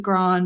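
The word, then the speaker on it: Gráinne: I looked up how to pronounce this. So, Darmud and Gro were like these uh lovers and Gro had been a promised to marry this sort of older man named Fon.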